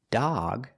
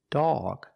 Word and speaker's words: dog: hot stop not but if the O is before a g the sound is different this word is not dog it's dog it makes a different sound before the G it makes it sound aw like call or saw the sound is back here ah not ah but ah dog so